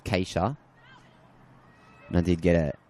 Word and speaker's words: Katia: It is spelled K A T I A K C Katia, but I have been told it's Kaca.